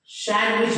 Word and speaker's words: sandwich: इसे भी हम सैंडविच बोलते हैं, सैंडविच, नॉट सैंडविच।